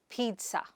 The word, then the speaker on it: pizza: It is not peeze or pizza, but Peet-ëse.